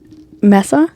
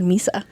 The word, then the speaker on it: Mesa: How do you say your last name? Mesa? Yes. Okay. I almost said Misa.